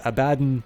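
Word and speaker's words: Abaddon: is pronounced egis and the hero's name is abadin both both because that is what he says in his voice acting but uh the name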